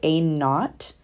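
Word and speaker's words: A₀: have a equals and we pronounce this guy a naught so that a with the subscript 0 we call it a naught so that's what this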